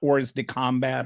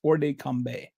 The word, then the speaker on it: hors de combat: First of all, this hors de combat, it's, the T is not pronounced, by the way. I don't know French, but I've kind of looked up how to pronounce this. It's not hors de combat or something.